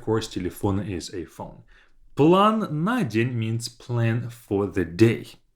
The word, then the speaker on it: план на день: So план на день, as if на день is one word and I put the stress on the first a.